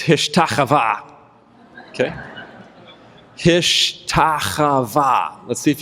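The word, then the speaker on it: השתחוה: Hishtachavah. Okay? And it's chava. You got to scrape the back of your throat there, like ich or bach.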